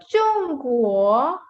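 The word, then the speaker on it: 中国: So now in this, the first syllable is ending with G, so we will say chung, chung, because ZH combined makes the sound ch. So chung, chung. Now the next syllable is starting with G, So we say ku, k, kuo, kuo. So now let's say it again. Chung guo, chung guo, chung guo.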